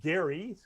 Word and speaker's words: Gerry: the good old days elbridge gary pronounced with a hard g who who led one